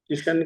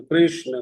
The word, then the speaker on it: कृष्ण: कृ का के साथ रा, कृष्ण। हाँ, कृष्णा कहना भी ठीक नहीं है, कृष्णो कहना भी ठीक नहीं है, किशन कहना भी ठीक नहीं है।